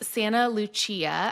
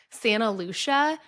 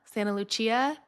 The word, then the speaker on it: Santa Lucia: I was like I thought it was Santa Lucia. Santa Lucia. Santa Luchia. A planner was like, "Oh, it's actually this." And I was like, "Oh, okay. Noted."